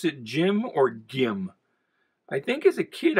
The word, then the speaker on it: Gim: name is jim allen it's spelled g-i-m so it's kind of like a jif gif thing do you pronounce it jim or gim i think as a